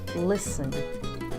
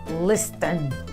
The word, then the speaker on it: listen: Lembra o primeiro exemplo que eu dei lá em cima do listen, do castle? Olha como soa muito mais suave quando eu digo listen, ao invés de falar listen.